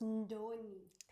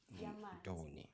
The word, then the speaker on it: Ndoni: Okay, first off, it's Ndoni. Ndoni.